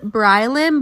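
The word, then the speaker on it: Baryleen: For example, one's name is Brylen, but it's spelled B-A-R-Y-L-E-E-N.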